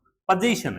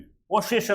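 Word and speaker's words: possession: पोजीशन है, पोसेशन नहीं है।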